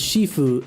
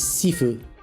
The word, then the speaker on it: shifu: Chinese is shifue and Cantonese is seifue.